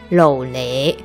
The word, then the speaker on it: LOLE: 漏雷，这漏雷呢就是台语的发音，很可爱吧。